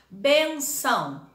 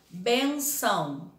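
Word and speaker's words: bênção: representar a sílaba tônica no caso dessa palavra bem benção o bem né é a sílaba forte Então são é a última bem é a penúltima então benção é paroxítona agora outra aqui mas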